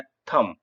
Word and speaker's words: thumb: यहां साइलेंट यंत्र sorry B यहां साइलेंट है तो यह बोला जाता है थम कि अंगूठा यह आपको